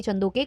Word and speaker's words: Chandok: कुछ लोगों ने बताया कि जो उनके सरनेम का प्रोनाउंसिएशन है वो है सिममी चंदोक नॉट चंदोके। तो जो भी है आप लोग मुझे करेक्ट कर देना कमेंट सेक्शन में।